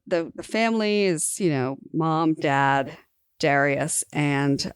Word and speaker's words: Dariush: It seems like a lot of the Persian names are kind of accent on the second syllable. Like Darius is the American version of the name. Darius or Dariush is the Persian version.